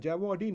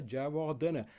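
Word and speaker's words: Jayawardene: Mahela Jawardene? No, it's Mahela Jawardena.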